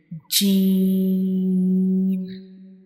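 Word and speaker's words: ج: When we read Gene, we will stretch it for 3 seconds and also we will read it hardly like G.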